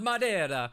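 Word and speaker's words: Madeira: now yet instead here you are sucking down madira wine like it's the first job you've ever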